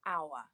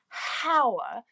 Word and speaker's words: hour: We say an hour. Why? Because it's the pronunciation. So we don't say hour, we say hour, which is a vowel sound, ow.